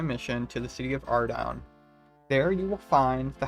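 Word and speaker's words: Ardougne: some like Ardugany or like Ardugan or whatever because of that one stream that Old Schoolcape did where they're like, "Yeah, it's pronounced Ardown."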